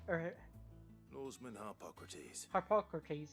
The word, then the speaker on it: Harpocrates: Hey, Hippocrates. Or Lawsman Harpocrates. Harpocrates, that's how you pronounce it.